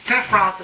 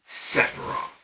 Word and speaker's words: Sephiroth: I mean, Sephiroth is easily on this list.